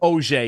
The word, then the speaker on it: Auger: So Auger, yeah. Auger.